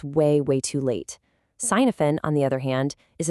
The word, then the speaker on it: Cynefin: It's spelled c y n e f i n, but you actually pronounce it Cynefin. It's a Welsh word.